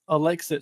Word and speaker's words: Alexich: So my last name is Alexich, so Lex then itch.